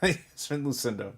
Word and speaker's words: Yasmin Lucindo: Yasmin Lucindo, purple.